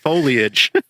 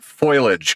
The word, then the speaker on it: foliage: Foliage. Foliage. I'm cursed with that word, but that will attenuate signals. It's not foilage cuz that's a different word.